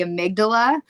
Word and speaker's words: amygdala: Um, first, let's talk about what's actually happening happening neurologically your I always mispronounce this word and I'm so sorry. The the amygdala.